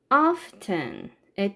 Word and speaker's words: often: 참고로 often의 T 사운드는 해도 되고 안 해도 돼요. 현대 영어는 T 소리를 안 하는 경향이 있어요.